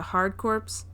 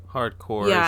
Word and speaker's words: Hard Corps: genesis it's castlevania bloodlines contra hard corpse um hardcore that's how you pronounce that hardcore um dr robotnik mean